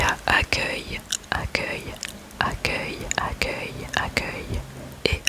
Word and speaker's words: accueil: Il y a accueil, accueil, accueil, accueil, accueil et accueillir, accueillir, accueillir.